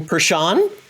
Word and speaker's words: Pershon: i will not destroy your name pershan yep that's right i pronounced well well thank you for joining